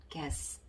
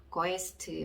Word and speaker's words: guess: 이렇게 그 모음을 잘 모르시면 이걸 어떻게 읽냐면 거에스트 뭐 이렇게 읽게 되고, 아니 거에스 뭐 이렇게 읽게 되거든요. 그게 아니라 전혀 발음이 좀 다르죠. 모음이 들어가는 경우와 안 들어가는 경우. 그랬을 때 이 단어는 guess라고 발음을 해주고, 단어 뜻은 추측하다 라는 뜻이 되겠습니다.